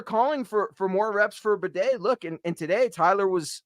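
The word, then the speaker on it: Tyler Badie: But the leading rusher for the Denver Broncos, tied between 2 guys, some guy named Bo Nix, and then Tyler Bidet, who I've been pronouncing his name wrong this whole damn time.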